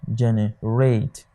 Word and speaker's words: generate: You realize that it is pronounced generate. Your stress is on the third syllable here.